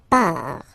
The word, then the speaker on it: part: Il, elle, part. Final T not pronounced, il, elle, part.